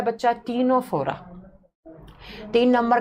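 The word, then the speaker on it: Ctenophora: सबसे पहला जब हम देखो सी से लिखा जाता है लेकिन इसको प्रोनाउंस करते हैं तो टी से करा जाता है टीनोफोरा।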